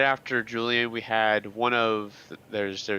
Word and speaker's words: Julian: It's pronounced Julian, yes.